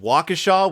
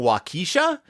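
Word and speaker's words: Waukesha: lot of dealings with wakashaw Wisconsin which in the BBC adaptation they keep pronouncing wakisha and I'm like nope nope I don't believe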